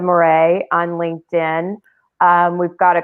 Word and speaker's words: Moret: so it's our and my last name is pronounced more a m-o-r-e-t so it's moray on linkedin we've got